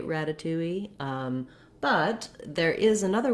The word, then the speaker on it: ratatouille: and that's more like rata twee ratatouille so you can hear how this twee clearly does have the w sound it's also stressed just like the two